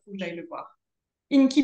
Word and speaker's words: INCI: Inky Beauty, ça s'écrit INCI, plus loin Beauty.